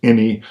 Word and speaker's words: ENI: and white design with the eni against pronounced any like any rpg i'm not going to